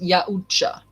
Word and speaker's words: Yautja: The Yautja. Pronounced Yautja. Okay. So the Yaucha, let's just say the Yaucha for quicker, just for simplicity, the Yaucha.